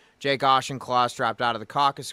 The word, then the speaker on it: Auchincloss: I'm sorry, I don't know how to pronounce his name. Auchincloss. That's right. Auchincloss.